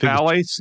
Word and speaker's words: phthalates: Yeah, the ph is silent. Just phthalates?